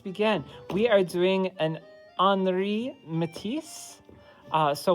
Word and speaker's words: Henri Matisse: we are doing an anri matisse uh so when you pronounce his name the french way of saying it the h is silent so you say anri matisse okay all right and